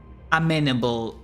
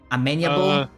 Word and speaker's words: amenable: will not be as amenable. No, how the fuck do you pronounce that? Amenable? Amenable. Yeah, you're right. Yeah, You're right. You're right at amenable all. or amenable, both technically are correct pronunciations.